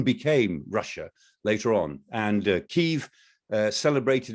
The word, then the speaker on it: Kyiv: But also, let's not forget that Kiev, or Kyiv as we call it these days in deference to Ukrainian language, you know, Kiev is the Russian pronunciation, Kyiv is the Ukrainian pronunciation, but Kyiv was founded in the year 482.